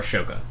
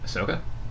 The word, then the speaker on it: Ahsoka: it's the episode before ashoka pops up and they were i'm sorry what would you just call her ahsoka oh okay you said ashoka he showed me how